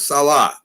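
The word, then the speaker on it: Saleh: we pronounce it jack we're gonna pronounce it right it's robert salah who uh is the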